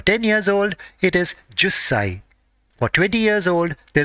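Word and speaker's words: 十歳: For 10 years old, it is jussai.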